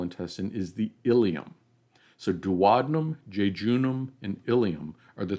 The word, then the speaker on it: duodenum: duodenum that's shown in purple here now i pronounce it duodenum you'll hear some people pronounce it duodenum i pronounce it duodenum so the smallest section of the small intestine